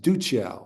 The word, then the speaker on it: Duccio: Or I think that's pronounced Duccio. I'm sorry, the accent's on the first syllable.